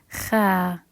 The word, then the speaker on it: خ: And last one is kha, kha, kha.